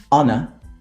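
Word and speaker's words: honour: come from these words and they are our honor honest heir and a good way to remember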